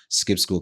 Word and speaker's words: Skip Skool: So, that's essentially how Skip School came about. And Skip School is spelled S K I P S K O O L, right? We actually we actually decided to purposefully misspell the word school.